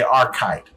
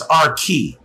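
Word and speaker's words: Archite: in the English is our key that's how it's pronounced and the other is how it is pronounced the H sound has that hard K to it so David's friend was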